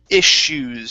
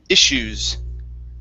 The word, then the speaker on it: issues: the word is pronounced issues so this uh double s here this is going to be an sh sound so this is issues issues okay very good uh